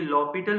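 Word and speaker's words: L'Hôpital: लिखने में इसके स्पेलिंग हॉस्पिटल जैसे हैं लेकिन इसकी प्रोनाउंसिएशन होती है लॉपिटल रूल।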